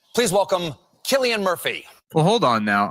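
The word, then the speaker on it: Cillian: Chillian Murphy. Should get more work. You know that's not how you say his name, Mhm. You know, you do in Ireland. You know it's not Chileian.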